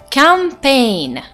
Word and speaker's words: campaign: letter G but I'm saying Galan next word campaign look at the spelling and listen attentively the pronunciation campaign and last word sign it's spelled